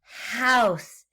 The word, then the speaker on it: house: out again house yeah that's an h at the beginning and the oh you makes the ow sound house do you hear the s at the end and then a silent e again just like in make we don't hear it i would make a